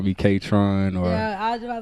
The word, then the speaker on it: KāTRŏN: So you pronounce my name with a long A, short O. So like you would say matron or patron, you could say KāTRÅN.